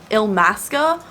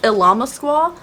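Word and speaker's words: Illamasqua: it's not Ilama Squaw, and it's like Ilmasca or something. It's Ilama Squaw. I'm gonna go say it till the day I die. Look at the name of this and tell me that's not pronounced Ilama Squaw. It's Ilama Squaw. You can say it's Ilmasca or whatever it is all you want. It's Ilama Squaw on this channel.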